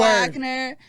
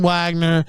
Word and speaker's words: Wagner: It's never been Wagner. It's always been Wagner. Do you understand that? Si, senor. There's never been a time in history that it's been Wagner.